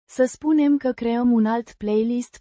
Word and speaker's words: spunem: Spunem. With a distinct U. sound like in, moon, and a softer, n, sound at the end.